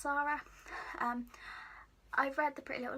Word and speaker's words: Sara: Shepard some people say sorry some people say Sara to me that's pronounced Sara I've read the pretty